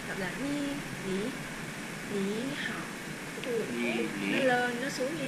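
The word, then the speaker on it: 你好: hay cho nên là nếu như mà hai cái này đều là hàm ba thì cái chữ phía trước nó sẽ biến thành thanh hai đọc là ni ni ni hào nó lên nó xuống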